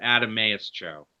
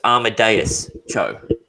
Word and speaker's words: Amadeus Cho: It's not It's Adameus. pronounced. It cut out a little bit, so it's Amadeus Cho.